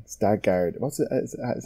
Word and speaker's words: Skarsgård: And and all the kind of like even the stuff with like Stargard. What's it? Is that how you pronounce his name? Skarsgård. Yes, Skarsgård.